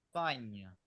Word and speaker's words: Spagna: La GN suena como ñ. Ustedes dirán, ¿cómo es eso? Bueno, ya lo vamos a ver. Fíjense, suena como ñ. Entonces, ¿cómo pronuncian ustedes este país? Spagna.